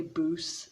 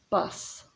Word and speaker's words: bus: vegetables i think bus so don't say booze say bus but this word it's not